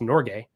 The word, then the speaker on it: Norge: fund fun fact about that it is actually pronounced Norge and it's it's Norwegian for Norway and so